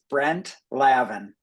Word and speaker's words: Brent Lavin: Um, I just wanted to ask really quickly, how do you pronounce your name to make sure I say it correctly? Yeah, thank you. It's Brent Lavin.